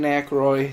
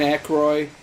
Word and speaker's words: Aykroyd: And Dan Aykroyd is the only one that's ever wanted to continually do it.